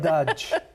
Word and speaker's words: saudade: Saudade. Saudade. Saudade. Saudade. Yeah. Portuguese sound, it's a little drier. Saudade. The Brazilian have a slight G. Just a touch. teeny bit. Saudade. They sing more when they speak.